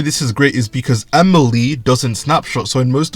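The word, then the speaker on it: Emilie: there you can even use nahita for the EM buff and help with bursting more frequently on emal guys I keep fucking saying em her name is Emily but the name is spelled so why is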